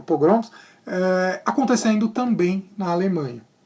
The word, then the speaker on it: pogroms: A pronúncia certa é pogroms, acontecendo também na Alemanha.